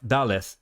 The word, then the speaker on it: daleth: Words that have zayin, pronounced z in Biblical Hebrew, sometimes have daleth, pronounced d or the in Biblical Aramaic.